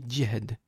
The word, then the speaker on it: jihad: Mais en toute vérité effectivement la prononciation exacte c'est diad parce que c'est un jim, c'est pas J. D'accord ? Donc on dit dihad.